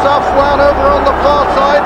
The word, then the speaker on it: Afwan: 10, Afwan, written by Willie Carson. We're told that that's the correct pronunciation.